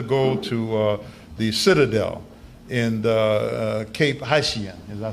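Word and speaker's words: Cap-Haïtien: And when we got there, we had a debate whether to go to the Citadel in Cape Haitien.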